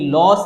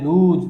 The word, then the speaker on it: lose: और ये LOSE लॉस नहीं, ये होता है लूज।